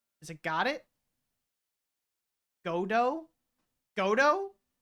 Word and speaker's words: Godot: it got it godo godo it's a reference to a character and the t is silent is it godo okay foreign think French